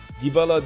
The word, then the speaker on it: Dybala: Dybala diye okunuyor dediler.